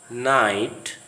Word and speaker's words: night: The GH sound is silent after a vowel sound in a word, as in the following words: night, wait, daughter, thought.